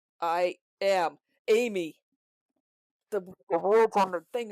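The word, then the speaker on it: Ami: I am Amy.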